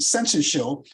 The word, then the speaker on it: syncytial: That's how they pronounce it, syncytial.